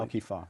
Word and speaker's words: Alkifah: Tell us about the Al-Kifa, am I pronouncing that correctly? Al-Kifa, right.